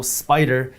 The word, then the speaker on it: SPDR: By the way, just so you know, Spider is spelled SPDR.